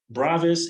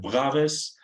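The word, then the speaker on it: Bravais: uh yeah I believe this is how people pronounce uh bravis and I have heard like Braves so he is a french guy so you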